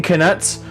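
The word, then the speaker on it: Knuts: galleons sickles and Canucks it's k-n-u-t-s so I'm saying connects but let's be honest it's just nuts with a silent k and there's like the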